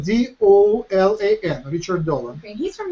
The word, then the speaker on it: Dolan: How do you say his last name? Richard Dolan. D-O-L-A-N.